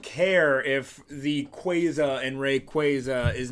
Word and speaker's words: Rayquaza: if the quaza and Rayquaza is meant to be like quazar I say Rayquaza it's Rayquaza oh my gosh every